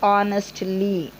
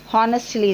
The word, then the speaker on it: honestly: HONESTLY को हम पढ़ते हैं ऑनेस्टली, हॉनेस्टली नहीं पढ़ते, ऑनेस्टली।